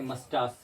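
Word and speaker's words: mustache: अगर ये आंखों से ये वर्ड नहीं गुजरेंगे, अगर नहीं पढ़ेंगे तो आप इसको सही तरीक़ा से प्रोनाउंस नहीं कर पाएंगे। ओके, जैसे मस्टास, CH को अभी श पढ़े मस्टास।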